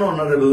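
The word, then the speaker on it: honourable: এইচ দিয়ে শুরু যেহেতু এইচটার উচ্চারণ সাইলেন্ট অথবা অ এর মত হচ্ছে তাই সেক্ষেত্রে আমরা এন বসবো যেমন an hour N honest man এন অনারেবল ম্যান ইত্যাদি এরপরে তিন নম্বর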